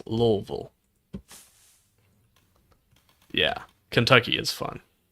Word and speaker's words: Louisville: down in the south who pronounce at Louisville when it's Louisville.